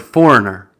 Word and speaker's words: foreigner: And I've seen some comments on previous pronunciation videos about the word foreigner, which has the silent G.